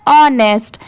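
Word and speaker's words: honest: topic है यह द ऑनेस्ट merchant यहां पर टी एच ई द यह है ऑनेस्ट यहां पर अगर एच है तो इसकी साउंड नेस्ट इसे नहीं पढ़ेंगे इसे ऑनेस्ट पढ़ा जाता है यहां पर एच लेटर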